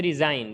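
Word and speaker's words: resign: भी इसी तरीके से रिजाइन रिजाइन के अंदर भी एन से पहले जी आया है तो साइलेंट हो गया है इसी तरीके से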